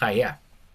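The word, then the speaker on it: היה: Pero se Ok, pronuncia haya.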